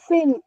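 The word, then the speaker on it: fim: Whenever there is a letter M at the end of the word, we will never close our mouth and say ma. Never. It is always nasal sound.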